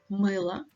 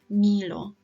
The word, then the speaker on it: мыло: Рыба, мыло, тыква. Рыба, мыло, тыква. Don't say риба, мило, тыква. Yeah, it needs to be pronounced harder.